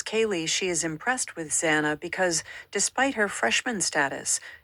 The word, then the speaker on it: Xana: I'm Zana, pronounced Xanax without the X, is how the petite brunette introduced herself to the Pi on the first day, and everyone laughed.